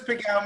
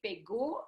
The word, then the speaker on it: Pégau: We can say Pégau in French, or we can pronounce Pégau in Provençal dialect. Okay, Pégau, I like that.